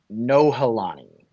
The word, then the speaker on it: Nohelani: by the name of Nohelani Hodgins, and she actually has a hyphenated name. It's like Nohelani Hodgins. But her name is spelled N-O, like no, not yes, but no, Helani.